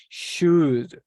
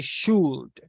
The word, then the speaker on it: should: is voiceless okay it is voiceless it isn't pronounced so we say should we don't say shoot say should have to will no wheel SOS